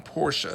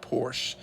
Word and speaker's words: Porsche: I had a Porsche before and the company pronounces it were the name Porsche so that's how the Porsche family name is pronounced not Porsche it's a pet peeve of mine when people